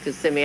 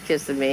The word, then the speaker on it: Kissimmee: few weeks oh cool at least you said it right kissing me I never used to know it was called Kissimmee I always said kiss of Me no it's Kissimmee yep Kissimmee they